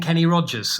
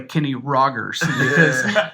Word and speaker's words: Kenny Rogers: Because when you're from some parts of the Arab world don't do that hard G, so they all do the soft G. Kenny So they Rogers. call him Kenny Rogers.